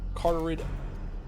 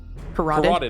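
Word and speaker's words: carotid: Kano felt the vicelike pressure on his carterid carterid. No, I know how to say this. Corateed artery. There we go.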